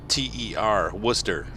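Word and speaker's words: Wooster: I'm like, no, in Ohio we say W-O-O-S-T-E-R, Worcester.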